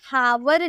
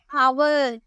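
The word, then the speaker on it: hour: इसे हाफ बोलते हैं और इसे एच से लिखा तो है, लेकिन इसे हावर नहीं पढ़ेंगे, इसे पढ़ा जाता है हावर। एच जो है चुप रहता है, तो इसे हम यहाँ पे नहीं लिख सकते हैं।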